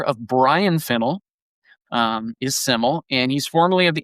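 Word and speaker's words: SYML: So the artist Siml S Y ML is pronounced Siml. The name is a nod to the Welsh word for simple reflecting the artist's Welsh heritage.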